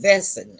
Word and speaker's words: Wesen: It's spelled Wesen, but it's pronounced Wesen.